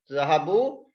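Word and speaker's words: ذهبوا: Zahabu, This alif is not a file. This alif is alif of protection. Alif of protection. We use after the vaw. We only write it, but we don't pronounce it.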